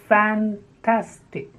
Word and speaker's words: fantastic: this the next is fan tastic fan TAS tip the first two syllables have a sound fan TAS think and the stress is on the second syllable fantastic the next is